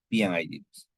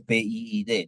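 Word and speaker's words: P&ID: No se dice PID, ¿no? Se dice PNID.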